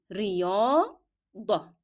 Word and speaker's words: رياضة: And ت مربوطة, though it is ending in ت, I pronounce as h because I'm stopping on the word, and in that case I will replace the sound of t with the sound h.